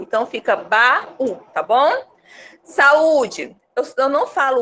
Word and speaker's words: saúde: Mas não é saúde, é saúde. Então, a gente percebe que as vogais se separam na hora de pronunciar.